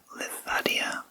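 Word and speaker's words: Livadia: n a museum and perhaps that's pronounced ladia Palace I'm not exactly sure but it is spelled l i v a d i a The danub J bro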